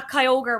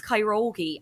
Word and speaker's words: Kyogre: to this and you were saying oh yeah Kyogre whatever blah blah I was like oh my God that's so embarrassing that they're pronouncing it wrong it's kyogi I fully Mandela Mandela fected myself and was